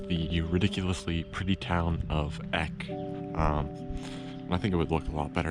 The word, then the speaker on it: Egg: place is, of course, its name is Eck. But that's because Germans pronounce their G's very similar to a K for native English speakers. So this is actually the town of Egg, E-G-G, and I think that's great.